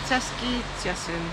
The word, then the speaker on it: Beskid Śląski: My pronunciation of names is rubbish, so Beata's going to try and pronounce the Czech name of the Czech side of the town. So, what is it? Beskid Śląski.